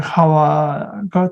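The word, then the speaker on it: חוה: 그의 아내 Eve, 제가 말씀드린 하와가 더 그 히브리 말 발음에 가깝습니다.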